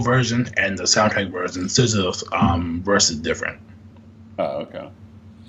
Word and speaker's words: SZA: SZA?